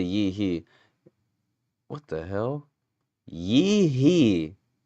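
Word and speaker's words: Yi He: Yee hee. That's funny. That's her actual name. Just two syllables.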